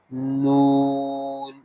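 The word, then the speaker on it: ن: Next is noon. Noon. Noon. This time your front part of the tongue touches back side of your upper gum.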